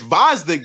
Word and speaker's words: Gvozdyk: It's Gvozdyk, bro. Anyway, The G silent. Gvozdyk.